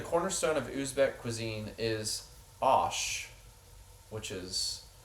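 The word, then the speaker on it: osh: Uh the cornerstone of Usuzbck cuisine is ash which is P L O V but I think it's Usuzbck to say is pronounced ash.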